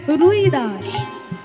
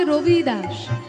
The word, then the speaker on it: রবিদাস: লিখেছেন তার নাম হচ্ছে রুইদাস রুইদাস আসলে রুইদাস তার নাম নয় বাঙালিরা বলে রুইদাস আসলে তার নাম হচ্ছে রবিদাস রবিদাস তা দেখবেন হিন্দিতে বটা একটু উচ্চারণ হয় রবিদাস রবিদাস তার থেকে হচ্ছে